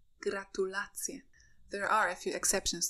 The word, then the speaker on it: gratulacje: Please note that the word stress in Polish is fixed on the second to last syllable. So we read ananas, banan, aleja, gratulacje.